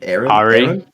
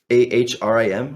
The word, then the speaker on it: Ahri: I don't know if I'm pronouncing it right. It's the nine-tailed mage, Ari. Ari? Yeah. Isn't it Ahrim or something?